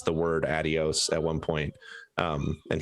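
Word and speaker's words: adiós: called adios this week i'm aware that it's pronounced adios in in correct pronunciation but this game specifically omits the accent and it's because it's trying to evoke the like way that people who don't know how to speak spanish say adios sometimes i don't really know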